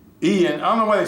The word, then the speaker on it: Ian: say Ian why is why they call it Ian it's spelled iron i-a-n like Brian iron it's not you know spell you know you don't pronounce iron I mean i-a-n and Brian like Brian but anyway but anyway